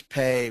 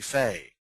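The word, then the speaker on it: פה: cough or half um the next one we have is pay which can also be Faye or pay or p with an extremely powerful H after it if you've ever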